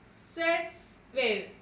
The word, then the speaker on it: césped: Césped. Lleva su sílaba tónica en la penúltima sílaba y termina en consonante D.